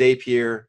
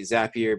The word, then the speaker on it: Zapier: app here today or as a peer it depends on how you want to say it I say zapier because it's a zap so in my mind it's easier to say it like that what is that what